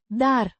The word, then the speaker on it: Dar: Pronounced Dar. much like the English word dare, but shorter.